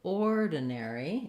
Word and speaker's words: ordinary: before the stress syllable so ordinary is stressed on the or um or den so we have four syllables ordinary length and clear vowel on that stressed syllable then the unstressed syllables